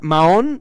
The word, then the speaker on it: Mahón: ¿Es Mahón? Sí, sí, la H es muda.